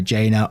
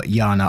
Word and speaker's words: Jana: And I know it can be pronounced a couple of ways, either Jana or Yana. I'm going to go for Yana in this one.